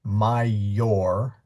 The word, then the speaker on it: major: Um the word major m a j o r in Latin is mayor. Change the o to an a and you have mayor but but mayor major.